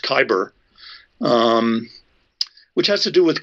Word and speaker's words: cyber: Cyber is a funny Greek word, probably really should be pronounced kyber, which has to do with control.